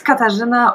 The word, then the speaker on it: Katarzyna: And now I'll give Katarzyna the word. So many words, hard to pronounce, I know. So it's Katarzyna, or shortly.